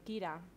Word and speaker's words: Kira: And the girl with my dad is Kira. Kira? Yeah. How do you spell that?